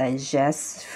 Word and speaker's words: digests: يبقى هنقول it digests food. repeat after me، قولوها معايا كده. it digests food. لما بنضيف لها الاس هنحاول نخبي التي شوية عشان ننطق صح. It digests food، تهضم الطعام.